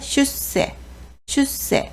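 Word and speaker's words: 出世: 그리고 출세할 때는 짧게 슈세 이렇게 읽으시면 됩니다.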